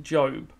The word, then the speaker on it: Job: is the story of now this name is pronounced job i'm never going to say it job here why would i because it's spelt job